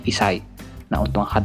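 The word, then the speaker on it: 一歳: Untuk angka 1 kan harusnya ichi, tapi dibacanya isai.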